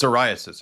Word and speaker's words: Caiaphas: What What What did Jesus say when when the chief priest Caiaphas or Caiaphases I'm not saying his name right. It's It's Caiaphas. It's pronounced Pronounced Caiaphas.